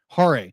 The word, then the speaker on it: Hare: Hare, Hare.